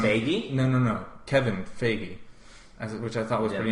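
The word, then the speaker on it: Feige: the first time FY no no no Kevin fagy which I thought was pretty interesting I never heard that pronounce that way but I don't know coming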